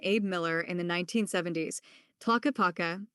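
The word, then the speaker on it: Tlaquepaque: Originally envisioned by Nevada businessman Abe Miller in the 1970s, Taka Paka, pronounced Ta Cage Page, was created specifically to provide studio space for artists drawn to Sedona's inspirational landscape.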